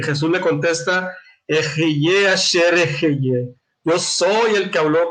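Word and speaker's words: אֶהְיֶה אֲשֶׁר אֶהְיֶה: Y le dice, y dijo Elohim a Moshe, Ejeye asher ejeye.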